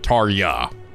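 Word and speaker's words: Tarja: Okay, Jay is silent. Tarya. Not Ja. Ya.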